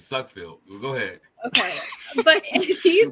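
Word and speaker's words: Sudfeld: last night if Nate sunfield is the absolute floor I I don't see how you you're not pronouncing his last name right it's suck field go ahead okay but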